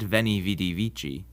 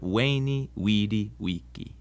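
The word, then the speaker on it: veni, vidi, vici: a bit of Latin the v in Latin is pronounced like a w sound so Caesar's famous saying isn't ven VI vichi but wayy Wei Wei one more quick note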